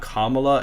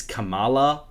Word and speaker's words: Kamala: She probably meant it as in like, oh, you're not pronouncing her name right, because apparently it's like, it's not Kamala, it's Kamala or something like that.